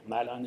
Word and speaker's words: Maeland: um i'm um or mylon is the actual way to pronounce my name um i can understand